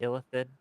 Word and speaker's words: illithid: Illithid.